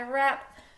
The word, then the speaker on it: wrap: We have W's to start every single word, but we only focus on that R sound when we go to speak, okay? W is a silent letter.